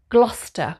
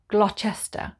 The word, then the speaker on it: Gloucester: not a wichita sauce number 15 it's called gloucester gloucester not glochester but gloucester number 16 is bista bista there's